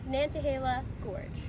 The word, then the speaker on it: Nantahala Gorge: But anyways, thanks for uh giving us the pronunciation for Of course. Say it again. Nantahala Gorge.